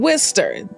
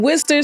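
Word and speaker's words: Worcester: good news Okay in Worster I'm telling you all that's not how it's spelled but that is how it is pronounced in Wester cities located in Massachusetts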